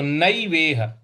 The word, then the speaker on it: नैवेह: देखिए यहां पे पार्थ नैवेह, न पर ऐ की मात्रा जो है इसको हम ऐ बोलेंगे। तो नैवेह, पार्थ नैवेह नामुत्र।